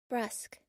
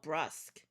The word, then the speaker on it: brusque: Brusque. Oh, brusk.